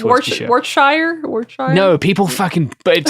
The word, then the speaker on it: Worcestershire: You just it's Worcestershire, by the way, is how you pronounce Worcestershire. Worcestershire.